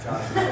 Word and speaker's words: Herbalife: The H is silent. Herbalife thing.